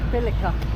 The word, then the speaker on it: Billerica: Essex where we live I don't say Bila apparently it's called bica bica they've changed the sort of pronunciation bilica so we're just going